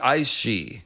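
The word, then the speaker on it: Aos Sí: The point is, Gaelic pronunciations look pretty weird to most other English speakers, but yeah, that's how you say it, she.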